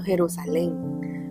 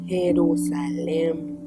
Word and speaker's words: Jerusalén: Sí, yo pensé que yo siempre lo pronuncio Jerusalén, pero es Jerusalén.